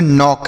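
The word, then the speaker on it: knock: तो यहां पर भी बच्चों के साइलेंट रहेगा। इसे हम पढ़ेंगे नॉक।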